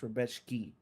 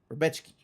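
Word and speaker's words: Rębecki: It's Rebechki. Rebechki. Don't say it Beshki. like an American. Can you say it like you're from Poland a little bit?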